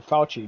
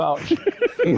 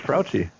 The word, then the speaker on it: Fauci: How do you pronounce his name, right? I thought it was Frouchy.